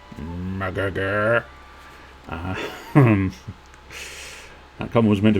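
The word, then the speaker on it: Mrgrgr: It's spelled M-R-G-R-G-R and pronounced murgurgur.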